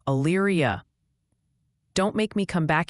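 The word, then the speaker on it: Elyria: Also, quick heads up, multiple people are saying is pronounced more like Ayria.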